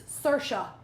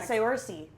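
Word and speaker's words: Saoirse: Cersa. What? Cersei. It's cersa.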